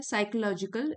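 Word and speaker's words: psychological: choosing constructive thoughts people strengthen there साइकोलॉजिकल P silent है साइकोलॉजिकल रेिलियंस consciously मतलब fully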